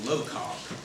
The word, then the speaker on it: LOCOG: just learned a little while ago, is officially pronounced LOCOG.